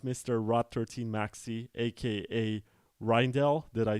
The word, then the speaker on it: Rijndael: was reading it as r dial yeah a lot of people say that so you've you've got it the the J is silent it was a lot